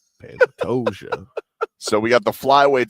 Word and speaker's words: Pantoja: You have problems pronouncing enjoy, Mm, but you've never gotten a fight name wrong. Pantoja. Pantoja.